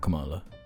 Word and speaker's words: Kamala: everywhere people equate um I keep saying her name wrong came yeah it's not Kamala Cala they the equation game